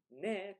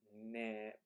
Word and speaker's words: ね: times textbooks say that this ne creates like a closeness between speakers.